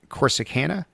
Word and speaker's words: Corsicana: is in a small town called do you pronounce it corsicana yeah of course the canada texas and that's